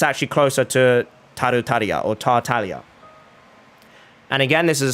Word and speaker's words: Tartaglia: It's not actually pronounced Tartaglia, it's closer to Tartaglia with a silent G. And again, I know I can't say it properly because it's in Italian and there is a special sound in Italian, but it is closer to the silent G.